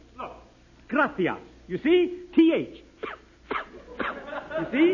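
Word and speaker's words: gracias: it please okay muchas gracious Amigo no no no not gracious that word is graas you see in Spanish the C is pronounced th look graas you see th you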